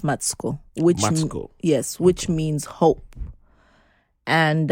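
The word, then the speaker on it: Matsiko: means peace and matsuko means matico is actually pronounced matsuko yes which means hope and um andan is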